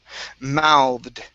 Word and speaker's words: mouthed: is uh the word mouthed right here Now this one is a verb Okay So we are going to follow the ed ending rule r rules Okay So this is mouthed Mouthed Mouthed Uh-huh One